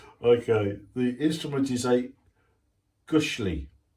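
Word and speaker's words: gusli: Okay, the instrument is a Gushli, pronounced Gushli.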